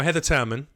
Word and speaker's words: Heather Turman: Now, Heather Turman, I'm saying it correctly this time.